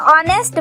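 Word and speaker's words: honest: जो यहाँ पर एच है उसका साउंड नहीं है, ओ का साउंड है, यानी वॉवल का साउंड है। हो को हम कैसे प्रोनाउंस कर रहे हैं? ऑनेस्ट, ऑ बोल रहे हैं।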